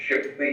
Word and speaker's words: Chappuis: Is it Chappuis? Is that the correct pronunciation? It's Chappuis, Your Honor. Wow, I got that one wrong. Chappuis? Must be French.